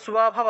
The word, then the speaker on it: স্বভাব: ব্রাহ্মণ ক্ষত্রিয় বিশাম শূদ্রাণম চ পরন্তপ কর্মাণি প্রবিভক্তানি স্বভাব, এটা স্বভাব দন্তীয় শয় নিচে বফলা আছে, তাহলে উচ্চারণটা কি হবে? সুয়া। আমি এটা ভেঙে দিই, উচ্চারণটা হবে সুয়া, সুয়া, স্বভাব, স্বভাব প্রভবৈর গুণৈঃ।